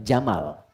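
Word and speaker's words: جمل: Jika dia pakai jenis gender dia jantan maka namanya jamal. Saya notis ya pendek bacanya. Jamal bukan Jamal.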